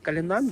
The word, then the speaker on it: Cullinan: готель кожний називає по-різному одні говорять Кулінар інших калінан і поки ти не з'явився сам в цьому готелі Ти не знаєш як правильно вимовляється назва розказую вам готель називається калінан і назва походить від алмазу найбільшого алмазу в світі який був знайдений в Китаї тому називається калінан Белек на території готелю